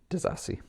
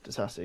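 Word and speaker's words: Disasi: Disassi. Disassi, yeah.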